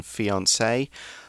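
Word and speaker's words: fiancé: see in our article we've got that french accent over the e which gives it the pronunciation fiance if it's a girl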